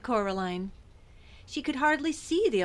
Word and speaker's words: Coraline: to you no said Coraline the old man Shrugged they funny mice they get things wrong they got your name wrong you know they kept saying Coraline not Carolin not Carolin at all he picked up a